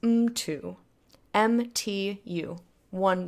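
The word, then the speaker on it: mtu: a Y but like for example person is M - M tu1 that's that's a single single word and the M gets its own syllable into same thing with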